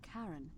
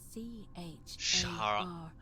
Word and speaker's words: Charon: The name you heard wasn't Karen. It was C-H-A-R-O-N. Hey, this is a... As in, Charon, the ferryman of the That's dead.